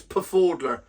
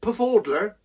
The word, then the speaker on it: Pfaudler: That's Pfaudler. I'm sure the P is silent, like the T in lettuce.